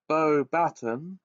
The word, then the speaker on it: Beauxbatons: Okay, it's pronounced Beauxbatons.